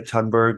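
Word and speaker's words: Thunberg: case for why Greta I didn't know that you didn't pronounce the h why Greta tunberg was not an effective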